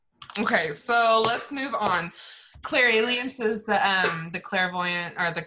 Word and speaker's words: clairalience: I think it's Clairalience. That's how I say it. I know it sounds like alien, but Clairalience is just how I've always pronounced it.